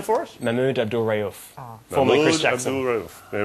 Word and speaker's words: Mahmoud Abdul-Rauf: Can you pronounce the player's name for us? Mahmoud Abdul-Rauf.